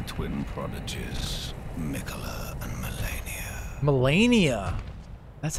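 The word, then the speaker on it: Malenia: Melania!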